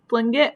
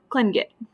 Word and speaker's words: Tlingit: It tells you how to pronounce Tlingit. So it's Tlingit or Tlingit. Either way you want to say it.